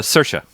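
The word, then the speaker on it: Saoirse: Um, actually it's Do we have a pronunciation? I'm o poets. Uh, Cersa.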